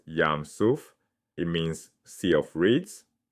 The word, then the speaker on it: Yam Suph: The Hebrew text says "Yam Suph"—pronounced yahm soof.